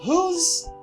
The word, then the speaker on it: who's: I have who's, the same pronunciation with this, but it's not the same thing.